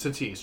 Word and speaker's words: Tatis: it and then um fernando tati is it fernando tatis um it's to tease junior yes just to tease those those should be